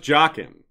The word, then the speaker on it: Jaqen: to point out yes it's properly pronounced Jockin right the sheds the show revealed to us and the show isn't necessarily correct but I think jockeying is probably correct problem is when I